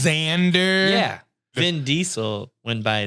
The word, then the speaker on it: Xander: no other X names there's also Xander if you're cool what yeah wait that's not spelled the Z yeah no it's spelled with an X get out of here Xander is spelled with an